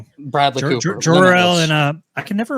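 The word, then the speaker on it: Jor-El: It's Jorel. People are going to hate you if you keep saying it wrong.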